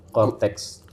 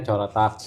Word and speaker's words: Coretax: punya aplikasi baru namanya Cortex. Cortex. Iya. Tulisannya C O R E T A X ya. Bacanya cortex. Betul. Tapi ada yang bacanya corak ya.